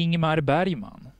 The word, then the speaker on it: Ingmar Bergman: o inimar Bari mano é assim que se pronuncie Sueco o nome do artista que conhecemos como ingmar Bergman hoje a nossa homenagem